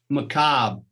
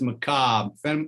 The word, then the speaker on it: macabre: while now the feminine macabre i was saying that wrong because i was pronouncing the r in there but it's just macabre feminine macabre and our